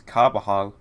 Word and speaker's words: Carbajal: I have identified the pronunciation. Okay. It is Carbajal.